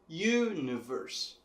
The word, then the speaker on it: universe: Já em inglês, essa sílaba tônica está bem mais para o começo da palavra. Na verdade, a primeira sílaba, universe. U, a letra U, é a sílaba que recebe mais força em inglês.